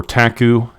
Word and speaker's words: PTAC: all seriousness guys uh PTAC or taku is the correct pronunciation he is one of